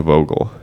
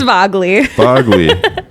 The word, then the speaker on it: Vagel: and vogel i said it wrong again oh no it's vogley that's okay everyone gets